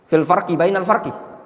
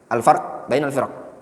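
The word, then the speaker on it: الفرق بين الفرق: Kalau antum gak tahu itu kitab, antum bacanya apa? Fil farqi. Bainal farqi. Iya gak? Tapi kalau antum sudah tahu, antum bacanya apa? Fil fil farqi bainal firq. Alfarq bainal firq. Nama kitabnya apa? Alfarqu bainal firq.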